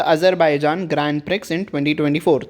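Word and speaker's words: Grand Prix: हम कह सकते हैं ग्रैंड प्रिक्स ग्रैंड pre tournament इसको प्रिक्स नहीं कहते हैं ग्रैंड प्री कहते हैं एक्स इज the silent here ठीक है तो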